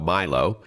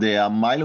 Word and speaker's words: Mylo: So with that in mind, talk to us about Milo. And for our listeners, it's spelled M Y L O.